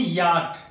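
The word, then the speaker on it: yacht: आइए friends, last में एक ऐसा वर्ड देखते हैं जहां सी एच आया तो रहता है पर उसकी आवाज नहीं होती। फ्रेंड्स, इसे हम पढ़ते हैं याट, यानी यहां सी एच साइलेंट होता है और इसका मतलब होता है नौका, यानी नाव।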